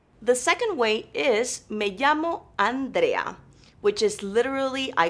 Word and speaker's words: llamo: L or the day which has a very similar sound to Y in English now listen closely Mae Jamal Jamal the third way